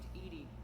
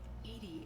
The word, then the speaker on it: EDI: where are you named Edie Edie is the phonetic pronunciation of EDI intelligence it's a very